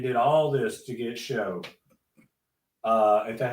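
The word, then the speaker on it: Shough: I mean, you just went and did all this to get show. Uh, is that how you say his name? Tyler Show. Uh, spelled like dough, so I'm assuming.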